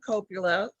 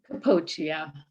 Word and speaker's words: Capoccia: But we're joined today by Coppola, or I'm sorry, how do you pronounce that? Capoccia.